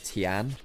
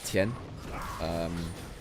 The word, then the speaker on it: Tian: Now, for instance, it's not Tian, it's Tien. Slightly different on that.